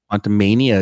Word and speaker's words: Quantumania: uh Ant-Man the WASP Quantum Mania did I pronounce that right quantumania it's going to be